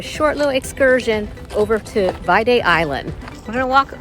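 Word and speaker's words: Viðey: to do a short little Excursion over to VA Island we're going to walk over to the ferry terminal and buy our fairy tickets it's actually pronounced vday according to a tour guy that we bumped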